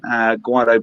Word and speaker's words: Gweilo: Gweilo Brewing.